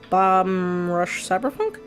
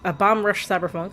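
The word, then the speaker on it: Bomb Rush Cyberfunk: Uh next Wednesday we will start also um Bomb Rush Cyberpunk. There we go. I always keep mispronouncing that name. Bomb Bomb Rush Cyber Funk.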